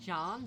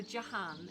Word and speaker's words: Jahan: I'm in the habit of calling him Jan because, like, I've read his name more than I've heard it. So Jahan, if I can remember how to pronounce it correctly.